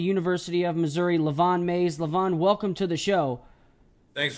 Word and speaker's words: Lavion: mean it's different so I like it it's Leon the eye is silent so all right don't forget it no